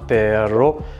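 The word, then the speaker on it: pero: Perro avec deux R qui signifie chien, perro avec un seul R qui signifie mais.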